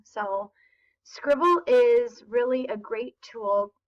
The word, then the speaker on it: Scrible: annotating tools it's called scribble so let me show you a little bit about it it is not spelled like scribble although that is how you pronounce it according to the people